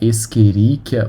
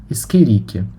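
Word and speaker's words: Escherichia: principais são a ecoli que você pode pronunciar esqueria ou eirich as duas formas são corretas porque o ch no latim tem som de q então a mais correta seria esqueria mas ela é batizada em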